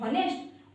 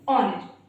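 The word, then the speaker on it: honest: यूज होते हैं, और अगर हमें नहीं पता है कि इन दोनों वर्ड्स में एच जो है वो साइलेंट है, तो हम इसको पता है ऐसे ही पढ़ते हैं, ऑनेस्ट और हावर। ये दोनों जो प्रोनाउंसिएशन है ये रॉन्ग होते हैं। करेक्ट प्रोनाउंसिएशन होता है आवर एंड ऑनेस्ट यानी कि ईमानदार।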